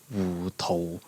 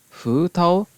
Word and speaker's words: Hu Tao: And then we have Hu Tao, which in Cantonese is Wu Tou, Wu Tou. The Japanese is Hu Tao, Hu Tao.